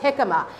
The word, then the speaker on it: jicama: is called jicama it's spelled jamaica but it's pronounced jicama it is a vegetable it doesn't have a